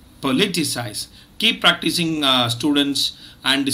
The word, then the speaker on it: politicise: the word for today it is politicize remember it's a four syllable word and the second syllable is stressed politicize keep practicing uh students